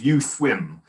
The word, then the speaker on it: Uswim: Yeah, I like the fact that you've introduced me as US Open Water. I like that. It's actually pronounced as Uswim, Uswim Open Water.